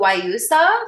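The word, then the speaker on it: guayusa: Oh, I'll put the name in the chat so you can see how it's spelled, but it's called Wausa, but it's spelled like gu a ya.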